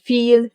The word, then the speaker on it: viel: Yes, the Germans will most of the time pronounce this letter like you would pronounce the English F. Like here in this number, 4. Some other examples are Vater, verkaufen, viel, vielleicht.